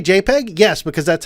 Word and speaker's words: JPEG: It is JPEG, okay? Yeah, with the J sound.